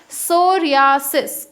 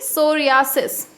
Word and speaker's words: psoriasis: As it is starting with P, but P is silent, so we read it as psoriasis. Okay, psoriasis.